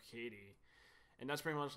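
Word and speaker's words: Cady: a running joke where her name gets mispronounced as like Caddy instead of Katie, and that's pretty much like the height of the humor with that character.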